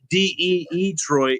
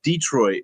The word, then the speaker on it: Detroit: kept saying they're like it's not de trit it's Detroit like with one e and I'm like why